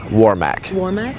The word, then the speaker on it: Warmack: the line equally and how do you all pronounce his name Freddie war Mac and I guess what would you like the